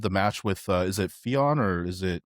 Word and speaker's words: Theon: match with is it Fion or is it Believe it's pronounced Finn, but it's Finn? spelled Theon, yeah.